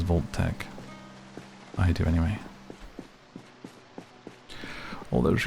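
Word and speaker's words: Vault-Tec: Oh no, Value Tech it says, but it looks like the way that it's spelled, I think you are supposed to read it as Volt Tech.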